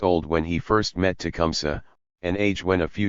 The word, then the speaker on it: Tecumseh: The Indians pronounced it Tecumseh, with the final E short, but it has become